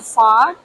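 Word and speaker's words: phở: The banh mi and the pho?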